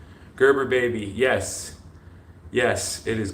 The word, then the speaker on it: Gerber: that's my last name it's not gerber it's gerber the the hard g there well i mean